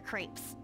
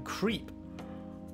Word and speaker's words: crepe: There's a crepe shop at Central Street that totally stuffs their crepes. That's not how you pronounce that word. It's crepe. They're pronouncing them creep.